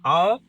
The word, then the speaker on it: our: So in our, it's just the sound.